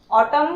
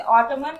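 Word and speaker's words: autumn: इसी प्रकार ऑटमन, ऑटम ऑटम ऑटम में एन होता है तो इसे ऑटमन नहीं पढ़ते हैं, ऑटम पढ़ते हैं।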